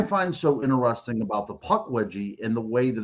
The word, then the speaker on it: Pukwudgie: But even more stunning, I think, is whenever you look at the word Pukwudgie, and the very first syllable on that is puck.